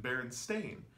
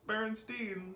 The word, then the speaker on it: Berenstain: through the rabbit hole their name is always pin Berenstain ever since they came into existence their name has been Berenstain it has been called the Berenstain Bears it's spelled AI n and this is something that a lot of people are like no it's Berenstein but other people like